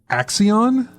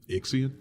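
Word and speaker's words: Ixion: oh man it's another one to try and pronounce Axion ix-i-o-n ixian easy X yeah it's ix-i-o-n well you said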